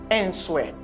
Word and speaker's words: answer: Les gens fait commencer à apprendre anglais, souvent quand des quelques étudiants qui dit answer. C'est pas faute, c'est parce qu'on pas connaît si W va prononcer.